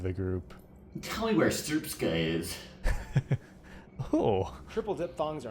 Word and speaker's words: Srpska: pronounced Srpska.